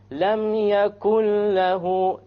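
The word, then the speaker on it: يَكُن لَّهُۥ: Look what happened to the noon, dropped. Suppose you were to stop, then you have to say لَمْ يَكُنْ. You ran out of breath or something, you have to say the noon.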